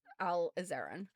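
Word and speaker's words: alizarin: Um, so yes, it it is actually alazarin. Um, so sorry Bob Ross, you were pronouncing it wrong. It's it's an Arabic word.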